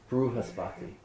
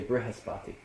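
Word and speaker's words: बृहस्पति: Instead of saying r, they say ru, re. So it's, in South India, they'll say bruhaspati. In North India, they'll say brihaspati.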